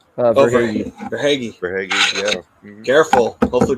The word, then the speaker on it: Verhaeghe: Is that how you pronounce? Verhaeghe.